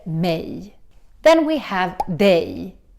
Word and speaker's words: mig: It's written mig, but we don't say it like that. We say instead mej.